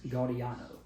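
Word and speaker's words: Gaudiano: Uh Stephano Guardino, it's Gardiano.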